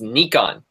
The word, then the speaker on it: Nikon: It's pronounced Nikon.